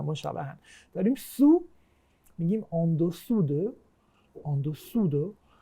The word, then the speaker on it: dessous: dessous، dessus، dessous، dessus. این که اوه مثل اون سو یعنی زیر، اون که اوه مثل سور یعنی رو.